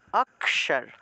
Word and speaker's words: অক্ষর: মূর্ধন্য তে ভেঙে যাবে তাহলে অক্ষর থাকলে সেটা সংস্কৃত উচ্চারণ হবে আকসার আকসার স মূর্ধন্য উচ্চারণটা স উচ্চারণ হবে স তালবস এর মতো না কিন্তু মূর্ধন্যস মূর্ধা দিয়ে